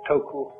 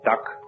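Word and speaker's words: 德: The Japanese pronounce it toku, the Cantonese duck, and the Northern Mandarins approximately dirt.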